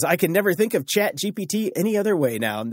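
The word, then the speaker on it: ChatGPT: speakers right now because in French phonetically chat GPT sounds exactly like cat I farted CH everywhere on TV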